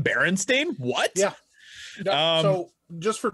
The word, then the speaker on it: Berenstain: It's spelled with an A. It's an A, not an E. I remember growing up and seeing it with an E all my life, and it was always Berenstain Bears.